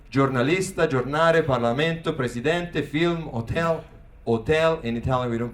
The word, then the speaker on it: hotel: Italian and I say journalista Jour film hotel hotel in Italian we don't pronounce the Ed these are words that you